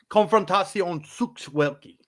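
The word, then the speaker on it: Konfrontacja Sztuk Walki: Konfrontacja Sukt Walki.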